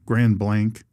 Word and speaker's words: Grand Blanc: also in um in Grand Blanc Grand Blank is how they pronounce it.